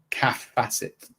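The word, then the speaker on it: Kaffe Fassett: It is pronounced calf. So it's cath calf facet.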